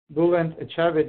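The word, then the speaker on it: Bülent Ecevit: And today we are happy to have with us Gokhan Bayar from, and Gokhan, please tell me if I'm pronouncing this correctly, Bulent Ecevit University in Turkey.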